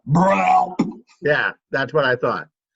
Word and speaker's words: BRELP: It's actually pronounced BRELP.